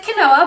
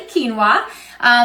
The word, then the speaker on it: quinoa: Some of you pronounce it quinoa, but it's actually quinoa.